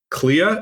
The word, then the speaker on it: Clea: so we had uh Clea is it pronounced CA Duval yeah CA Clea CLA as what oh